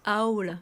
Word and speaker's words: owl: Ça se prononce owl.